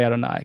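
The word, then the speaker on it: אֲדֹנָי: Don't say yod v. You see these vowels of adoni. That's because you're supposed to say adoni.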